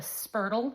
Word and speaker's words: spurtle: They call it a spurtle rhymes with turtle and it's made out of wood and that's what they stir their starter with.